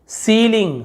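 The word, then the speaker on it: ceiling: अलग-अलग उच्चारण है तो ई आई का देखिए ई निकलता है बड़ी की मात्रा ई पढ़ते हैं ना वैसे देखिए सीलिंग सीलिंग नहीं बोल रहे सीलिंग तो यहां पे ई आई लिखा हुआ है यहां पे तो हम इसका क्या निकाले ऐसा बड़ी की मात्रा सी देखि आपने देखा सी सीलिंग छत होता है जो कंसील और देखिए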